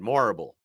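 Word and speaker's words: Morrible: more uh it's it's Madame horrible but with an M instead morable Madame horrible I've seen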